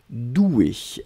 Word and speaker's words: doué: juste le 1 mais la prononciation reste la même doué regard d'un pardon ne